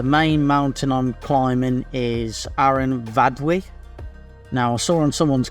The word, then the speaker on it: Aran Fawddwy: mountain I'm climbing is Aaron vwe now I saw on someone's comment uh Mark he said the f is pronounced with a V and that's most of the time in Welsh so I I hope